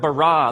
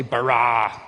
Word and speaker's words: bara: now the word for create is the word bara let me hear you say brah what's this forceful energetic word of making things out of nothing in the beginning Elohim barad the heavens and the earth now the earth